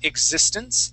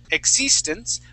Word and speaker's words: existence: sound in the word existence so instead of saying ex existence we want to say exi existence try that please existence